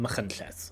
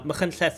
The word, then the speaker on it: Machynlleth: And there's a place in Wales, for example, called Machynlleth. Now, Machynlleth is in the Welsh language; it's not in the English language.